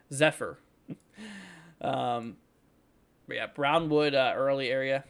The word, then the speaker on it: Zephyr: keeping out there for is that how you say it zeper zepher maybe Zephyr like an F zepher without an well no F but you know what I mean z Zephyr um yeah Brownwood early